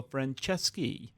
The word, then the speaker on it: Franceschi: it's hard to pronounce because in Italian, the CES and the CHI, CH is a K sound, and Okay. C followed by a vowel is a ch sound. Okay, so Franceschi. There you go.